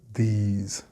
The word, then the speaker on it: these: One other sound that can be confused is this and these. The first has the S sound, and the latter has a Z sound. Most students don't have a problem with this, but struggle with the plural these, and it sounds like they are pronouncing the singular rather than the plural.